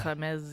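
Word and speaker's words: Hermès: And is it Hermes? Is that how you say it? Hermes, yeah.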